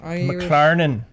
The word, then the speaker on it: McLaren: Oh boy, gotta say it like you're Irish. McLaren.